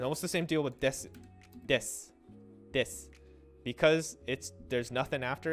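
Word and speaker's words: です: when you just say desu. So desu is des, except when it's desu because people want to pronounce it.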